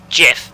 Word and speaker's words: GIF: a it's a real thing it has a pronunciation but yeah it should be jiff but that that offends my sensibilities pronunciation not